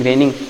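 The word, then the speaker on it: rho: वाह, it's raining raining raining, तब से बारिश ही हो रही है, ठीक है। प्रोपोर्शनैलिटी कांस्टेंट रो, देखो इसको आप कैसे प्रोनाउंस करोगे, रो, ठीक है, दिस इज रो।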